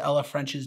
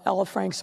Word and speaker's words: Ella French: And by the way, did you catch that she mispronounced Officer Ella French's name? In the horrible tragedy of Ella Frank's murder.